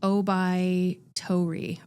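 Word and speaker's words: 桜梅桃李: there is a Japanese idiome word and it's pronounced o by what is it o by Tori o by Tori so the idea is that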